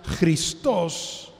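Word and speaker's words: Χριστός: una palabra griega y cristo en griego se pronuncia cristos también es una palabra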